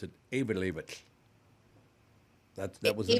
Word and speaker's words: Eyjafjallajökull: The guy came on and said, and you literally pronounce it with a lateral S. You literally pronounce it Eyjafjallajökull.